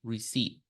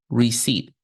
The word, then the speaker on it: receipt: written like this but when we pronounce this word we are not going to pronounce letter P so we're going to say receipt receipt okay now what do